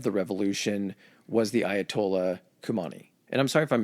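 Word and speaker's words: Khomeini: name yeah it no it is it's it's kumani okay um so he is again the I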